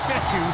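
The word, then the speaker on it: Fetu: stop him so coach fethu spelled f-e-t-u for the longest time i was pronouncing it coach fetta like feta cheese so let's just say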